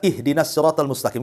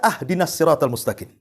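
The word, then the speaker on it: اهدنا الصراط المستقيم: Contoh umpamanya, kita baca ihdinas siratal mustaqim kan gitu. Kita baca ahdinas siratal mustaqim. Harusnya di kasroh, kita fathah pula tuh. Harusnya ihdinas siratal, kita katakan ahdinas siratal.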